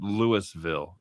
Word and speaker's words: Louisville: Oh, they pronounce it Louisville in Colorado.